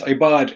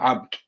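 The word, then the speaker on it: عِباد: So it's ibad. It's not abd.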